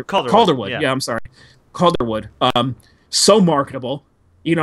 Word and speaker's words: Calderwood: Calderwood.